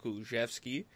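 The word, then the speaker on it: Kulusevski: young kid diane kuluzewski i read a tweet that is pronounced kulczewski according to uh in in macedonian by the way so i guess we'll we'll go with that you know moving forward kuluszewski and um you know one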